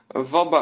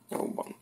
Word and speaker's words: Vauban: Tutaj to francuski E, Sebastien Vauban, a pisze się Vauban. Nazwisko Vauban.